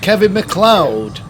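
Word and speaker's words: Kevin MacLeod: Yeah, Kevin McLeod. Do you know that's pronounced Kevin McLeod? According to the man himself.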